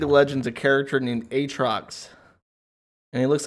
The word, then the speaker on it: Aatrox: the name aatrox because because that's how it's written if they didn't want it to be pronounced aatrox it wouldn't have two a's in it it would just be a or a y instead it's aa trucks and i don't give